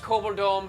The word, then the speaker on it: Koboldom: Pronounced Koboldom because we live in a dome.